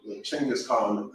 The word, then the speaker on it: Chinggis Khan: So, but Genghis Khan, or Chinggis Khan, however you want to pronounce it.